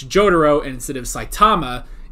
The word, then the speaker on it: Jotaro: it so uh so instead of jotaro it's jotaro and instead of saitama